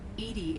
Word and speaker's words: EDI: have a specific inquiry why are you named edie edie is the phonetic pronunciation of edi that is an acronym for